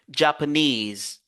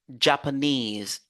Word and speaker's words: Japanese: mots qui se termin ou qui ont le suffixe is on se focalise sur is Japan ici aussi vous avez l'accent secondaire qui vient ici et puis on se focalise sur n e Japanese Japanese information dramatic electricity employee